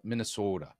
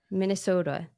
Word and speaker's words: Minnesota: a Lutheran Pastor in Minnesota right you have to say it like this though Minnesota Minnesota that's right Minnesota you got to kind of dra that last bit out yeah uh and you